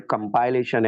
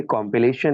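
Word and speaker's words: compilation: लोग सोच रहे होंगे कुछ बच्चे आज तक सोच रहे होंगे जो गलत सोच रहे हैं कि शायद ये वर्ड कंपाइलेशन है सर को प्रोनाउंस नहीं करना आ रहा नहीं ये कॉम्पिलेशन है when the word is used as noun it इज कंप्लेशन when the word is used as verb it इज टू कंपाइल they कंपाइल्ड इट ठीक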